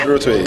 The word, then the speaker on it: Durotoye: Durotoye Fela. Thank you. Nice to meet you. Did I say it right? Yes, Fela Durotoye.